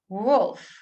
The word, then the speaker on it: wolf: Note how L is silent here. Wolf, woman.